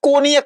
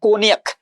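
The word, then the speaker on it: Cognac: है ठीक है ना ये स्पेलिंग देखिए जो है प्रोनंसिएशन इसका कोनियक होता है कोनियक ठीक है ना अब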